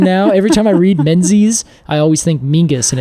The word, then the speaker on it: Menzies: a z is because the actual sound of Scottish Menzies uh is actually it's just there's no letter for it in the English alphabet so it's actually Mingus apparently is how you would pronounce Menzies uh if you were pronouncing it kind of the traditional Scottish way that's amazing yeah so